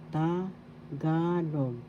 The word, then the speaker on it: Tagalog: Tagalog. Tagalog. First syllable ta, second syllable ga, third syllable log. The accent is in the second syllable.